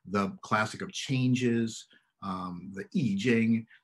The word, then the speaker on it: I Ching: classic of changes, the I Ching. Sometimes people pronounce that in English as I Ching. The pronunciation's wrong, but you might have heard people refer to the I Ching.